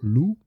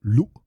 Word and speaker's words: lu: Notice well, there's a glottal stop, so it's not lu, but lu. Little bit of a push at the end there.